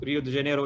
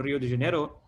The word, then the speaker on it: Rio de Janeiro: is uh rio again the correct way of pronouncing rio is rio de janeiro is not rio de janeiro he's huge asian arrow